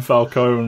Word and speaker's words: Falcone: That is how it's said. It's Falcone. Carmine Falcone.